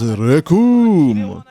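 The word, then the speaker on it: Recoome: Okay, so now it's Kid Turanksu versus Rekum. And it rhymes with Doom.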